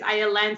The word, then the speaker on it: Ayelen: um like you said my name is aya len so if it helps some listeners um you can think of violin without a v and that's how you would say my name um but a little